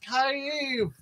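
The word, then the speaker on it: Kyiv: no no if you in traditional ukrainian new york city is pronounced kaif why don't we all know that market better oh i'm sorry about war it's two syllables not one i uh because i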